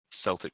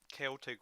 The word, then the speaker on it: Celtic: Celtic warriors, by the way. Whatever. There's no soft C in the Celtic language.